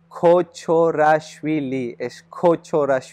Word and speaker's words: Kochorashvili: muchos Pitch en eso y mi apellido es cocho rashville Porque algunos dicen que me sorprende un poquito